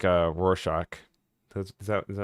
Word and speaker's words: Rorschach: It's like a Rorschach. Is that how you say it? Yeah, yeah, you're Rorschach.